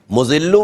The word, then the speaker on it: مذل: اچھا, اس میں زال ہے, مذلو میں زال ہے. اگر کوئی مذلو پڑھے گا اور زے پڑھے گا تو عدد خراب ہو جائیں گے اور تلفظ بھی اس کے اچھے نہیں رہیں گے.